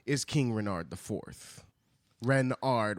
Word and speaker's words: Renard: is King Renard ivth Renard with the accent on the Ren and then Renard Renard